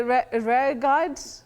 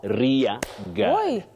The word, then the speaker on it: rear guard: I I would say rare guard. Rare guard. And then rare. We say rear. Oh, rear guard. Rear guard not rare guard.